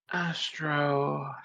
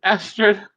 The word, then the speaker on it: Astra: And then Astro, how is it pronounced again? Astra.